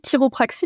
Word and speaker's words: chiropraxie: Alors la chiropraxie, donc on dit chiropraxie, mais en effet ça s'écrit CHI.